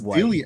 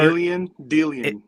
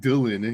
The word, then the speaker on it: Dillian: Stop calling him Dylan. It's Dillian.